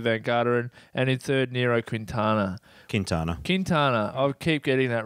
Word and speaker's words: Nairo Quintana: Britain, second TJ Van Garderen, and in third, Nairo Quintana. Quintana. I keep getting that wrong. Nairo Quintana.